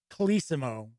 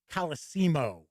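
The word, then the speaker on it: Colosimo: with jim uh well i've heard his name pronounced different ways we always heard it kalisimo but i've also heard it coliseemo and uh he was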